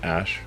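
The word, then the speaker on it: Æ: X um and then the AE is like pronounced Ash um yeah and then uh a12 a12 is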